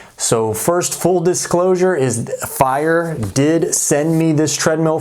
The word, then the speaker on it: FEIER: are looking at the fire star 100 treadmill and yes that is how they told me to pronounce it it is fire so in just a